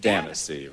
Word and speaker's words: Danyse: It sounds like fantasy, but it's pronounced Danyse, right?